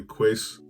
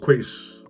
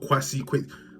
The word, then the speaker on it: Kweis: It's your boy Quace, and welcome to my channel. And for anyone who's been butchering this name, KWEIS at the E, it's pronounced Quace, not Kwasi, Quace.